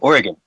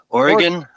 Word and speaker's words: Oregon: Uh if you ask any local in Oregon, they'll say it's pronounced like oregano.